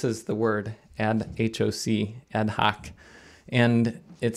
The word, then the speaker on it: ad hoc: going to in this episode get more into ad-hoc commands and between last video and today I actually looked it up so this is the word and hoc ad-hoc and it sounds like an American English it's